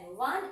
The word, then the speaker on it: one: তাহলে এখানে যেহেতু এটা ও এর উচ্চারণটা এখানে আয়ের মত, অ এর মতন হচ্ছে না, ওয়ান ওয়া এরকম উচ্চারণ হবে, ওয়ান, তো এখানে হবে